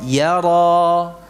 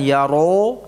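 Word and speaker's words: يرى: Buka ya, rohangnya yara. Jadi bukan yaro, tetapi apa? Yara. Ya, ra ini yang dibuka rahangnya. Jangan mencucu bibirnya.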